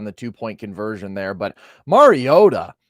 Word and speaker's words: Mariota: two-point conversion there, but Mariota, maybe I should be pronouncing that T a little bit more distinctly based on how Collinssworth kept hitting the Mario today.